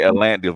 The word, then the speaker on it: Atlanta: so, Forget the T, Atlanta. Forget the T, Atlanta.